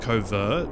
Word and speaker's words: covert: how you might say like covert like the word overt actually like covert the stress is on vert and not co but when it becomes covert action you say it differently It's not covert action.